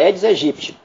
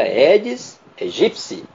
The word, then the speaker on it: Aedes aegypti: os telejornais notici a edes egípcio pode prestar atenção nessa pronúncia que está incorreta pronúncia certa eds egipci o a não pronuncia né e o Piti tem som de p então preste bem atenção